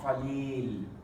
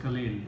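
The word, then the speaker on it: قليل: If you stop the word, then you just say Khalil. If you read it with something else, you say Qalil.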